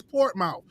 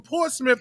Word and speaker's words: Portsmouth: And for the longest time, he had me calling that damn place Portmouth. And it took somebody else from Portsmouth to tell me it's not pronounced that way.